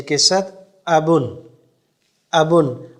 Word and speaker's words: ابن: و لہجے کے ساتھ۔ ابن، ابن، اکثر اس لفظ کو پڑھ لیں اور اس پہ شد پڑی جاتی ہے، ابن نہیں، ابن بالکل سافٹ کر کے پڑھنا ہے۔ ابن معنی والد صاحب،